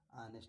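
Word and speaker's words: honest: यहां क्या है? ऑनेस्ट। ओ के बाद क्या है? एस्ट। ओ के पहले क्या है? एच। इसलिए क्या पढ़ेंगे? ऑनेस्ट पढ़ेंगे।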